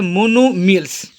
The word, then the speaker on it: monomials: ठीक है, यानी ये आपका छुप जाता है इसमें, इसलिए सिर्फ लिखा जाता है मोनोमियल्स।